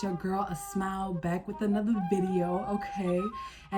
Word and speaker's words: Asmau: It's pronounced Asmau, like us Mao.